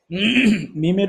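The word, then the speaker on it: ميم: মিমের উচ্চারণ খুবই সহজ, আমরা ইতিপূর্বে পড়েছি বা। বা যেখান থেকে, মিম সেখান থেকে। মিম মিম বাংলাতে আমরা ম উচ্চারণ করে থাকি, মিম দেখা যাচ্ছে না?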